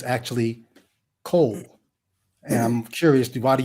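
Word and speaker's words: קול: It is kol. Qol is the way it's spelled out in English.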